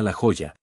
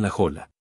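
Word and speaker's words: La Jolla: A orilla del mar que se llama la joya y que los norteamericanos pronuncian la jola Supongo que los españoles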